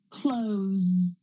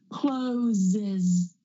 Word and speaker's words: closes: those sounds Z close now I don't say clo that would be quite hard to do I need to add that extra syllable I need to add that schah closes closes closes another example